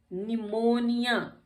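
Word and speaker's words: pneumonia: फिर आ जाता है हमारा निमोनिया। अब यहाँ PN आ गया इकट्ठा, देख रहे हैं, PN आ गया, तो यहाँ पे भी हमारा P साइलेंट हो गया, क्योंकि PN अगर है तो भी P साइलेंट होगा।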